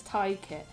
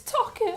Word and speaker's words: Tockit: Sloth says, I say your name is Ty Kit. It's Tockit. I used to say Ty Kit when I was like 14. It's because the Y is pronounced in Welsh.